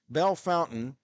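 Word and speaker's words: Bellefontaine: to split the word they pronounce the French word Bell and then Fontaine they say fountain so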